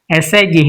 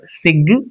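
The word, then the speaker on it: sigh: Si G H it's not sig or sig it's si just si gh h is silent and t a g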